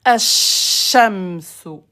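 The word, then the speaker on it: الشمس: Le soleil, on dit asha. Écoutez, asha, j'appuie. Ashamsu.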